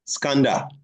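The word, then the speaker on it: Skanda: no no you are jumping the word again pronounce the word the way is written no scander scander or Kaa K the son of pavi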